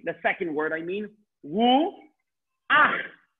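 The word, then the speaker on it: רוח: Ru ach. Not ru cha. Ru ach.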